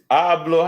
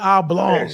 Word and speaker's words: oblate: I was calling it oblong, but no, I was calling it oblong, but it's actually oblate. Oblique. So yeah. Oblate, spherical, Okay.